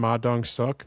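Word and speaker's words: Ma Dong-seok: featuring what did we we looked up the pronunciation of his name? Maong Suk, the South Korean actor.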